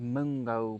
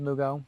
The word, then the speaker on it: Mugo: A mungo pine, is that how you say it? Mugo. Mugo. Mugo pine.